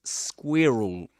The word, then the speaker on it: squirrel: That's squirrel. That's in British English.